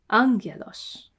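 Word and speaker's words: ἄγγελος: Two gammas together are ng. A gamma in these combinations is a ng kind of sound. Ng. So angelos. Angelos.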